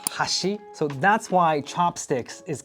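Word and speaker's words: 箸: In Japanese, chopsticks and bridge is both pronounced hashi.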